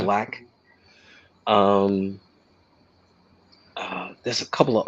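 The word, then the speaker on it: Blxst: artists like her, um, Black, which is spelled with a six, where people call him Six Lack, but it's Uh-huh. Black.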